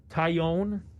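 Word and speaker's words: Taillon: guys uh guys have looked good uh jameson taiyon that's how you pronounce his name kion yeah pitched yesterday he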